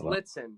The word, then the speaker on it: Lietzan: Yes, it is Litzen. No one pronounces it right, though, so don't worry at all.